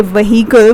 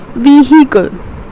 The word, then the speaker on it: vehicle: You don't say vehicle, but you pronounce it as vehicle.